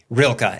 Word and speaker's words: Rilke: I think you started off great in your book with this quote from, am I pronouncing the name Rainier? Rilke. Everybody will just, Rilke.